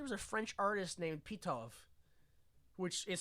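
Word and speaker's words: Pitof: but the director was a French artist named PTO which is spelled literally pit of oh all right well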